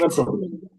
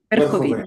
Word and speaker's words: Верховина: in a city which I will try to pronounce, Verkhovina. Verkhovina, is that correct? Верховина. Verkhovina.